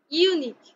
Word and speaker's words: unique: word unique why because you here in the word unique is pronounced like you but where in the